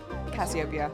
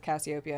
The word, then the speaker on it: Cassiopeia: Cassiopeia, yeah. Okay. Got it. Don't be late, Mac. Okay. And put the kettle on. All right, we're Mac. I think it's pronounced both Cassiopeia and Cassiopeia. Just Cassiopeia?